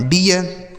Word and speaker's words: dear: ठीक है, DEAR, डी से हो गया ड, ई ए का उच्चारण ईय, आर से र, यह लिखा गया आपका डियर।